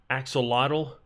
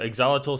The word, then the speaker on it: axolotl: Or as the British people call it, axolotl. I don't know which is the proper way to say it, but Exolotl sounds way easier to say and it sounds like the proper way, but axolotl sounds strange.